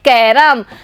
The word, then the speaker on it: कैरम: बच्चों क पे ऐ की मात्रा लगी हुई है, लेकिन जब इसको हम शब्द में बोलते हैं तो इसका उच्चारण हम करेंगे कैरम। बच्चों इसमें ऐ की जगह एक का ध्वनि हमें सुनाई देती है।